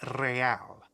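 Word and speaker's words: réal: Royale oh excuse me you owe me 130 real he pronounces the r with a mock aristocratic accent the I or inter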